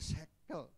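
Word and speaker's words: שֵׂכֶל: budi dalam bahasa Ibrani itu ditulis seekkel bukan sekel bacanya sekel yang artinya kebijaksanaan artinya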